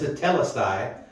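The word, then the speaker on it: τετέλεσται: It's hard to pronounce, tetelestai, but it literally means it is finished.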